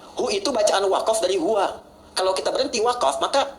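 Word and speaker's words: هو: Nah, huwa, itu kalau kita ingin berhenti di huwa, maka A-nya nggak dibaca. Contoh ayat kursi Al-Baqarah ayat 255. Allahu la ilaha illa hu. Huwal hayyul qayyum itu kalau nyambung, kalau berhenti di hu bacanya hu.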